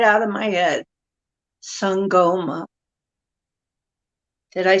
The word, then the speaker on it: Sangoma: Sangoma.